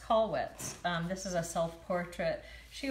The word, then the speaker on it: Kollwitz: amazing survivors and then Kathy Katie Katie it's pronounced Kollwitz this is a self-portrait she was such a